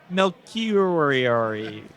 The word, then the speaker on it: Melchiorri: Melchiorri.